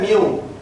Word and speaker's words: mu: इसको प्रोनाउंस किया जाता है म्यू, और म्यू का मतलब होता है मीन वैल्यू.